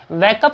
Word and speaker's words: wake: mother कह रही है, वैकअप संजय, वैक, उच्चारण कर लीजिए इसका एक बार से, कई बार वॉक के साथ में कंफ्यूजन रहता है इसमें, ये वैक है, WAKE, वैक, वैक अप, वैक अप,